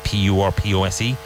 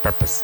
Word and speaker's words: purpose: Now, even though it's spelled P-U-R-P-O-S-E, it's purpose, purpose, not purpose, purpose.